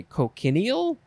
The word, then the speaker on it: cochineal: Okay, next is, so I think it would be pronounced cochineal. Cochineal. I would want to say cochineal, but clearly I'm wrong.